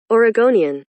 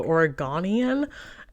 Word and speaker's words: Oregonian: case you didn't know and this movie is pronounced Oregonian before I did this review I saw who you know did anybody else talk about this movie on YouTube yet and I heard somebody Call It The Oregonian and I found that to be really offensive